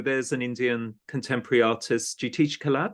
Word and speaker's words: Jitish Kalat: Just briefly, Jitish Kalat. So there's an Indian contemporary artist, Jitish Kalat. Correct. Am I pronouncing it Yeah, right?